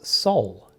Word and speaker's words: SOL: so the energy said call us soul and i said oh okay is that like soul s-o-u-l and they said no it is spelt s-o-l and it stands for